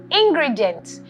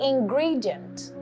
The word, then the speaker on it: ingredient: It is commonly mispronounced as ingredient, but it is actually ingredient.